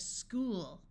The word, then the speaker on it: school: sound of ah watch CH sounds like C in some words especially if the root word was Greek in this word oo says o so we have school a note that although